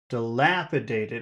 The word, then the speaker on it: dilapidated: past Barn b b now dilapidated how many syllables does that have dilapidate how many syllables de it is a five dilapidated and which one has